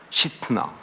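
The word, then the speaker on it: שִׂטְנָה: 거예요 여러분 신나라고 하는이 이름은요 히브리식으로 발음하면 신앙합니다 시트나 근데이 시트 나란 말이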